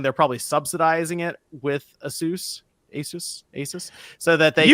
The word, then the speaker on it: Asus: comment on the hardware but it is actually pronounced Asus like that's how you pronounce the company name